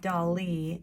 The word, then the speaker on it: Dali: your foreground you get to have a crazy dolly imagination and i just realized you might think that his name is spelled like dolly like a baby doll d-o-l-l-y